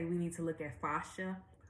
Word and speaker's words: fascia: She would say we need to look at fascia. Fascia. That's how you say it.